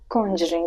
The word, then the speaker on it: Conjuring: बन जाएगी, बट हाँ, कंजरिंग थोड़ा सा इसे स्लाइटली ऐसे कॉन्जरिंग ऐसे कह सकते हैं, बट कॉन्जरिंग मैं भी पहले इसे प्रोनाउंस ऐसे ही कर रही थी।